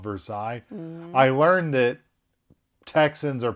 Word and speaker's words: Versailles: i learned side note you know how there's a town in our state indiana called versailles versus that should be called versailles i learned that texans